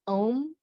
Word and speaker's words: Om: far fitting for reaching usually pronounced as um om sound and symbol are believed